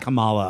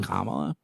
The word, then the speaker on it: Kamala: her name is Kamala they say it Kamala on the show not Kamala well that's gonna screw